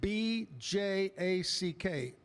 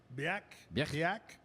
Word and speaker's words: Bjack: Now, how would you pronounce BJ A CK? Bjack. Well, it's probably Scandinavian, so it's the BJ is more of a The J's H. Bak.